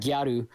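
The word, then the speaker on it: ギャル: They pronounce that gyaru, where it's like basically the fashionable kind of thought girls.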